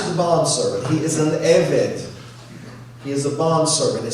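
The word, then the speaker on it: עבד: And in Exodus 21, it's pronounced eved.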